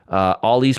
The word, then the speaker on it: Ollie: Ollie's pronunciation is not a long O. The doctor doesn't have you say O. He has you say ah.